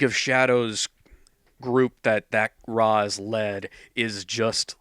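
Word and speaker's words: Ra's: Well, in arrow in the Dark Knight movies they always pronounced Raz. No, it's pronounced Raz, but they pronounce it ra in the animated series.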